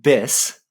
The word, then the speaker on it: bis: Is that like biz, like a business address? Like, I think it's pronounced bis, which is even stranger.